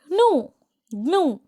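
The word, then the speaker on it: gnu: Oh that's O that said Charlie that's a न अब वो क्या बोलता है कि अच्छा यह इसे तो हम न्यू बोलते हैं। न जी एन यू उसको हम प्रोनाउंस क्या करते हैं? नू तो वो क्या बोलता है?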